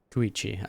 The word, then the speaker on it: Koichi: Koichi.